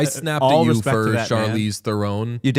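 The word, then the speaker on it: Theron: Thronon. Apparently, it's more of like a thron. Yeah. South African.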